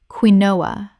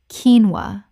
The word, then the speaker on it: quinoa: Common mispronunciation, quinnoa. Correct pronunciation, keenwa. Only two syllables.